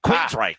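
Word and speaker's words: Queensrÿche: You can't You can't say it like it's two words. It's one word. So, um, give me Queen's Reich in one syllable.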